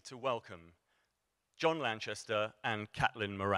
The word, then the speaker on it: Caitlin: the first thing and non-trivial thing was the pronunciation of your first name yes catlyn C yes it was uh yes no I